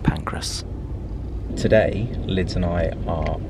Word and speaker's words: Pancras: pancreas i know but i always say some pancreas i know i know but i've just got to stay true to myself just to accept that i can't pronounce the train station in london it's just pancreas pancreas kings cross saint pancras today liz and i